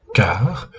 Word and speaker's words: Carrhes: la terrible bataille de car ou carae en latin et je ne vais pas prononcer le S final de carè puisque ça serait mal